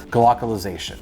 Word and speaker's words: glocalization: might have guessed it you might have not glockalization no that is not a typo and i am not mispronounced glocalization is a thing whether you're a